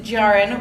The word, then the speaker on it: Jahren: we're about to discuss Lab Girl by Hope Jahren (jar-en). We, of course, Racine and I always argue over how to pronounce things and par for the course this month. So it is "jar-en."